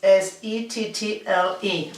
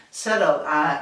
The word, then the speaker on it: settle: The pronunciation, the spelling is S-E-T-T-L-E, and the pronunciation is settle, British English settle, touching the top of our mouth, with our tongue, and in American English, settle, with a D.